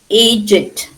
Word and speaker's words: aged: Aged. You can say it both ways, depending on the context. Okay. Always read the context and then you pronounce the word.